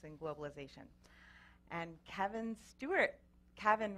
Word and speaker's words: Kavin: Kavin rhymes with Gavin.